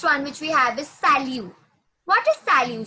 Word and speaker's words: salut: Okay, it's salut. Yes, it's not salute, it's salut. Okay, it's salut. T will be silent. T is silent.